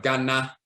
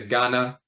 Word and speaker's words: Ghana: of Juba we'll say instead of Ghana you say Ghana with an nuh because we're used we're accustomed to pronouncing a or ah is uh in English because we're not accustomed